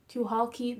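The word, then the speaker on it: Tucholke: It is Tuhalke. The C is silent.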